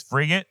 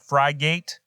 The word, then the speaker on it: frigate: as well as bravado it's frigate not fry gate and it's bravado not